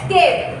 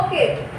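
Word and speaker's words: cape: Next है केप। CAP इसका pronounce करना है आपको, केप, कैप नहीं बोलना है।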